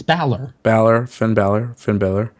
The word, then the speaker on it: Balor: what do you mean what I call Finn pronounce his last name again baor it's Balor Balor Finn Balor Finn Balor who that he